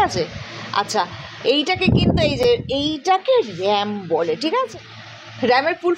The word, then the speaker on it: RAM: আচ্ছা, এইটাকে কিন্তু এইটাকে র্যাম বলে, ঠিক আছে? র্যামের ফুল ফর্ম কি? র্যান্ডম access memory. রাম নয় কিন্তু র্যাম উচ্চারণ, অবশ্য রামও করতে পারিস, বানানটা তো একই হলো।